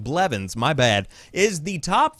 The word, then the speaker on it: Blevins: the New Year Tyler ninja melvins or excuse me I always say his name wrong Blevins my bad is the